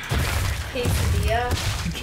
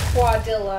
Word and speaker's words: quesadilla: So, he totally said quadilla, and I wanted to die.